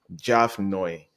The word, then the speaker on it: Javnyuy: My name, Javnyuy. The best way to pronounce Javnyuy is to pronounce the Nyuy as Nui, Javnyuy.